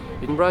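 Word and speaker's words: Edinburgh: तो आज मैं हूँ स्कॉटलैंड के दारुल खिलाफा एडनबरा में, जिसको बहुत ज़्यादा लोग एडनबर्ग बोलते हैं क्योंकि इसकी जो स्पेलिंग है वो आती ही एडनबर्ग है, लेकिन असल में प्रोनाउंसिएशन जो है वो एडनबरा है।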